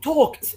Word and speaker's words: talked: and dispense they they talked the l is silent and we say talked talked okay talked again